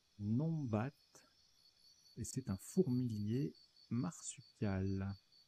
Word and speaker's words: numbat: Alors, ça se prononce Nombat.